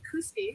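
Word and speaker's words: Kooskia: go that way and KUSI is the right way to say this all right so there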